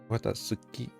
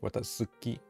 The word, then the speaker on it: Watatsuki: Watatsuki. Su. It's like Watatsu. The Japanese T is like pronounced different, right? It's like Watatsuki. I think that's how you say it. Watatsuki.